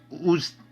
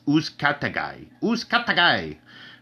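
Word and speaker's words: Uzcátegui: Super middleweight, Jose Uzcategui. I know I'm saying his name wrong. It's Uzcategui versus Lionel Thompson.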